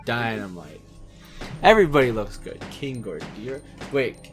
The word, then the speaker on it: Ghidorah: It's not Godira, it's Ghidorah.